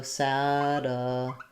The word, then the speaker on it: satellite: In satellite, we have first syllable stress. Letter A says the a, black cat vowel. Just sounds like the same as the word sad at the beginning. So sad. The light sounds the same as the light in the sky. At the end, the diphthong I, so satellite.